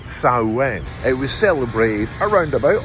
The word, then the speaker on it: Samhain: It's actually a Celtic festival, mostly Irish and Scottish, called, and I think I'm pronouncing this right, Samhain.